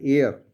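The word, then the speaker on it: heir: हम कहते हैं हेयर एच ई आई आर इसे कहते हैं उत्तराधिकारी इसका मतलब होता है उत्तराधिकारी ऑनेस्ट का मतलब होता है ईमानदार आवर का मतलब होता है घंटे तो इसमें भी एस साइलेंट रहता है इसका प्रोनंसिएशन होता है एयर oil astronaut email octopus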